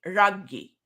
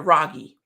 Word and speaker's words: Raghee: um my my uh my mother named me ragi right but she's from calcutta and she has indian pronunciation i do not i was born in virginia so ragi turned into ragi ragi means queen of queens funny how that little bit of emphasis emphasis makes a difference sorry means queen of